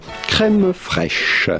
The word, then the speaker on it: crème fraîche: How do you go about pronouncing this with the typical French pronunciation? Crème fraîche. Crème fraîche. But it'd be fine in English or American to say crème fraîche. Crème fraîche. In French again, crème fraîche.